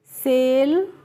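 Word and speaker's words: sale: सेल एस ए एम ई को क्या पढ़ेंगे?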